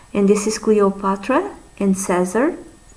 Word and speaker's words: Caesar: And this is Cleopatra and Caesar. In Latin, in the, how do you say, formal Latin or traditional Latin, Caesar was, the way you said his name was Kaiser.